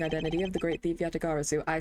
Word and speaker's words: Yatagarasu: The fantasmagorically changing identity of the great thief Yatagarasu.